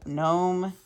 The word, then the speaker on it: gnome: um all right and starts with a silent G gome gnome and Nash and N okay um oh and